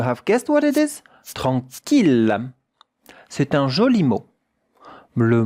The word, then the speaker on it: tranquille: Et maintenant, regardez comment cela se prononce avec une voyelle nasale. En, un son nasal. En. Tranquille, tranquille. 2 syllabes.